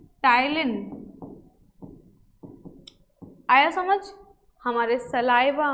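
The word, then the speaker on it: ptyalin: क्योंकि बेटा salivary amylase का ही दूसरा नाम टाइलिन है, पी साइलेंट होता है इसमें, टाइलिन।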